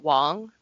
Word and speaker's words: Wang: Um yeah, he's talking about it and it's actually his name's Wong. Yes, that is correct. Oh, sorry. Uh, anyway, spelled Wang, pronounced Wong. Correct.